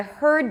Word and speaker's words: heard: difference okay heard I heard you and hard should be pronounced differently the first one has no vowel in the middle heard the second one has